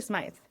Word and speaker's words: Smyth: But it's actually Smyth. It's actually Smyth. So it's pronounced as if there were an E on the end, but it's an invisible E.